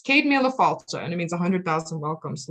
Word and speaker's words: Céad Míle Fáilte: Nobody knows how to pronounce it. It's Céad Míle Fáilte, and it means 100,000 welcomes, literally.